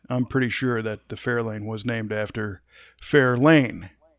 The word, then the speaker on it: Fair Lane: But I'm pretty sure that the Fairlane was named after Fair Lane. And you'll notice my different inflection. I'm accenting a different syllable as I say Fair Lane.